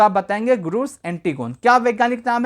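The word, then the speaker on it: Grus antigone: ग्रूस एंटीगोन कहीं-कहीं पे इसकी स्पेलिंग आपको थोड़ी सी अलग मिल सकती है लेकिन आप परेशान ना होइएगा। प्रोनाउंसिएशन इसी तरह ही किया जाएगा। ग्रूस एंटीगोन।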